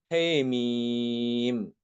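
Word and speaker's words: حم: Imam Ibnu Dakwan juga mengimalahkan huruf H ya, yang ada di pembuka surat. Hamim dibacanya Hemim. Kemudian di kata Cerfinhar, surat At-Taubah, dibacanya Her.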